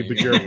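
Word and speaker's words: Björk: Bjork. It's like New York, but with a B and yeah. York. Bjork. All right, Locks. Bjork. Bjork, yeah. I think he'll be Bjork for you.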